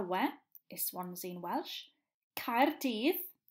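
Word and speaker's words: Caerdydd: this one's in Welsh card Eve is how you say Cardiff in Welsh Australia pen ass tire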